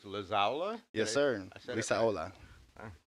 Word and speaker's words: Lizaola: Lizaola.